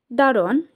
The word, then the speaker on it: দারোয়ান: দারোয়ান শব্দের অর্থ হচ্ছে, দারোয়ান শব্দের উচ্চারণ ভেদে হচ্ছে, এটা উচ্চারণ হয় দরোয়ান।